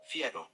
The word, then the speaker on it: fiero: So, Fiero. Fiero. Fiero. I would say it fiero.